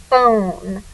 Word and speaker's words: phone: So now we have the word own, phone. We don't make a sound for this silent E. It gives all its power, makes the O say its name.